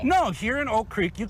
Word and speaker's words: Oak Creek: People I just heard Amanda say Oak Creek, so let's be honest, you don't pronounce the first K. No, here in Oak Creek, you call it Oak Creek.